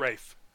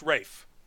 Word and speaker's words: Ralph: and it's proud of Rafe just I'm sorry it's pronounced Rafe for some reason you know it spelled Ralph it's browns ray Fiennes